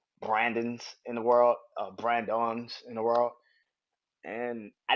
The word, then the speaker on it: Brandon: i was like yo i said my name brandon my mom was like no it's brian don it's brand dawn huh and it goes